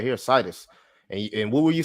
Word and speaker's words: SIDUS: So like Insidious, but just the last part.